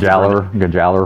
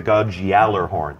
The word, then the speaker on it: Gjallarhorn: One of the most iconic weapons, one of the most debated pronunciations. I think we got it now. In our game, I'm sure anybody from Europe would tell us that we're a bunch of fools, but a lot of times Gjallarhorn.